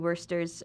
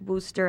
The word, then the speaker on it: Worcester: I did not mention worsters um I say Worster because that's how Filipinos pronounce it but it's Wooster I know I you know